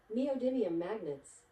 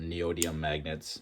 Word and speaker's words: neodymium: It should sound like neodymium magnets. Hope you heard that. For the longest time, I can never pronounce it. I think I called it neodyium magnets or I just in my